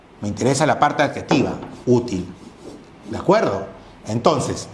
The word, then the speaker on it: útil: Me interesa la parte adjetiva, útil. ¿De acuerdo? Entonces, la palabra útil, tiene sílaba tónica en U, por lo tanto es grave.